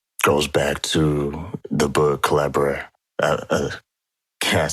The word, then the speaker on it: Collabradabra: And that goes back to the book Collabradabra. Can't say Collabradabra. Yeah, that's it rhymes with abracadabra.